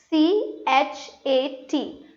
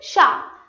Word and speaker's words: chat: But if I pronounce this so I'm giving it is a sound. So it is sha. So the words they are written differently and they are pronounced differently. And in French politics are like very important because if you say this as chat people are not going to understand what are you speaking about.